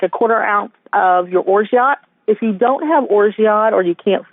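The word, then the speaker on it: orgeat: quarter of like a quarter ounce of your orot if you don't have orot or you can't find orot and that's spelled o r g e a um or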